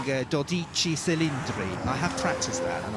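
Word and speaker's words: Dodici Cilindri: If we were Italian, I think we'd be calling Doichi Celindri.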